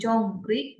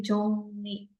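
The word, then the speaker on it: 정리: Akhir konsonan eng ketemu konsonan awalnya R. Jadi berubah dari jongri, bacanya jadi jongni.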